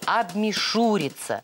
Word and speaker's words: обмишуриться: Обмешурились. Не балуйтесь. Вы совершенно правы. Этот глагол произошел от существительного «мишура». Вот только согласно литературным нормам, ударение в нем следует ставить на третий слог. Обмишуриться.